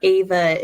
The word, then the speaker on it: Ava: But in my head, I pronounce Evangeline with that, like the Evangeline, so that therefore Ava is Ava, which I know sounds like it should be the AVA.